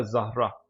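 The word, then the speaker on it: Zara: बाद next name है ये एक फेमस क्लोथिंग ब्रांड भी है अब आई डोंट नो कि वो फेमस ब्रांड जो है वो किस वो उसका ओरिजिन क्या है मेन लेकिन इसको यहां पर जो प्रोनाउंस किया जाएगा वो किया जाएगा जहरा मूविंग फॉरवर्ड ये टर्किश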